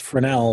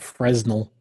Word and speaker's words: Fresnel: And it's pronounced Fresnel, not Fresnel.